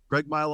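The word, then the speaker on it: Craigmyle: you're from a town and I want to pronounce this right is it is it Craig mile Craig mile Alberta Craig mile Alberta very close to Hannah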